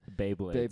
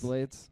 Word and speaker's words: Beyblades: Yeah, I don't know how to say it. Beyblades. Beyblades. Yeah. Beyblades. Like Bay better Yeah, than dude.